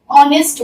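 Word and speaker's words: honest: तो जब मेरा ही इज यहाँ पे एच साइलेंट है, अ का साउंड आया, ऑनेस्ट, ऑनेस्ट, तो ये मेरा स्वर यहाँ पे एन, ही इज एन ऑनेस्ट बॉय।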